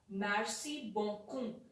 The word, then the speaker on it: merci beaucoup: say merci merci beaucoup it is pronounced as merci bonkum thank you very much